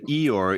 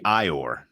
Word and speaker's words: Eeyore: also if two e's made an eye noise instead of Eeyore it would be ior no Eeyore isn't spelled